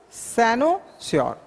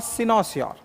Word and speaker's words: cynosure: this is called sinusion what is Sano sure or sinosaur both pronunciation is correct because one is American another is British but answer is cynosure